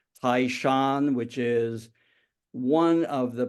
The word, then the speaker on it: Taishan: That's the county which I use the pronunciation in the dialect, but it's otherwise known as Toisan / Taishan, which is one of the principal counties in